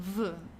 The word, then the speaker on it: wo: which means where H make sure the pronunciation V in German okay V okay it's not like the English where or so okay